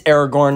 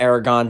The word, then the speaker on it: Aragorn: It's Aragorn, not Aragon. Don't listen to me. Don't listen to me. I had it wrong the whole video. Aragon. It's one of the 2. I believe it's Aragorn.